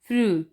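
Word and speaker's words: früh: यू, यू को मिसाल में देखें तो फ्रू यानी कि जो आ उमलाउट है और ऊ उमलाउट है और ओ उमलाउट है, इसको हमने थोड़ा सा लंबा करके पढ़ना है, फ्रू, अर्ली।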